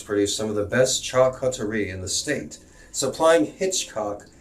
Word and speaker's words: charcuterie: And it's pronounced Mangalasita pig cuttery. Charcuterie.